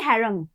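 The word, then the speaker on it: harangue: And even हैंग this is uh here the यू एंड ई is actually silent. That is that does not come in the pronunciation. You pronounce it as only हैरंग।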